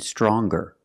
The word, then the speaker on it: stronger: strong to younger and stronger? Or the youngest, the strongest. When we change these adjectives with ER or with EST, we're going to pronounce the g sound, the hard g.